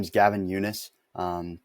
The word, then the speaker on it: Yunes: my name is Gavin Eunice um people kind of mispronounce my last name a lot so it's it's yunice not Yun or anything like that